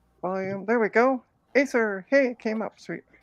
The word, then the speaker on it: Acer: sorry I'm weird I am there we go Acer hey came up sweet it's pronounced acre that's randomly weird but okay sweet so I